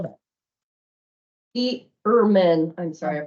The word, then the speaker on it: Erman: And it's from Erdman, how do I spell that? Erman, I'm sorry, I pronounced it wrong, ERMAN.